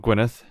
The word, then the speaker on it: Gwynedd: signed Priory Philip of gwyneth and Tom builder it always throws me off that that's pronounced Gwyneth as our two DS after the reason to play